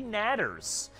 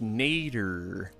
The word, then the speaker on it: natter: stingers and there's deadly natters. So we have our work cut out for us still. Hold on. Deadly what? Natter. Are you sure it's not pronounced nader? No, it is not Ralph Nader, political opponent from 1990s, okay?